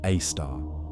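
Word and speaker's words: Sagittarius A*: The super massive black hole at the center of our Milky Way galaxy, Sagittarius 8, pronounced a star, contains about 4 million solar masses and has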